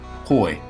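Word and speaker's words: Houy: Right guard, Gabe Huey, or do we say it like we would say Arkansas Sioux, Huey, Vince? How are we pronouncing that this year? Hoy. Hoy? Like a Georgetown Hoya?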